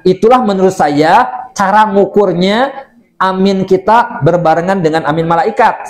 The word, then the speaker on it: amin: Ya, kalau yang dimaksud di dalam amin setelah Fatihah itu cara bacanya amin, gitu ya. Bacanya A-nya panjang, min-nya juga panjang.